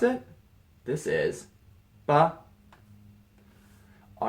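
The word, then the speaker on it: 爸: Pronounced ba.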